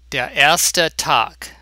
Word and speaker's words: Der erste Tag: The letter E at the end of a word is never, ever a silent letter. There is no such thing in German. Every letter is pronounced, always, except in some loan words.